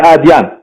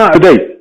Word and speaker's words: آدي: على اسم منطقته ادي اديان ف من الاديان سماها ادي لكن ويبدو ان على الاخوه العرب صعب التلفظ دي فسمى عدي او سما عادي من عادي ايضا سما عدي عدي عدي فمن عادي قال